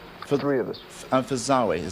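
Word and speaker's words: Zowie: And for Zawe. Zoe.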